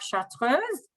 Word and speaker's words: chartreuse: the Mariner you have chartreuse, which in English should be chartreuse, but it's a French word, so that's I finally have a good pronunciation for that, chartreuse, which is a French alcohol that you find actually in the Alps.